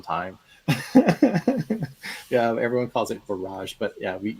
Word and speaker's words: Barrage: People pronounce it as barrage. Oh. Yeah, but it's Barrage. but I found out that it's actually supposed to be pronounced barrage because you're barring water from coming in.